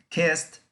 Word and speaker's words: kissed: Kissed, sonido T al final lo hace pasado, la pronunciación, no la escritura.